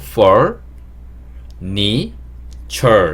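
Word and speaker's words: furniture: 읽는 걸 좀 도와드리면 fur 여기를 for라고 읽으시면 되고요 ni2 부분은 니 그 다음에 ture이 부분을 철 이렇게 읽으시는게 좋아요 그래서 단어를 읽으실 때 제가 발음했던 그대로 for ne chere 이렇게 영어 단어를 그렇게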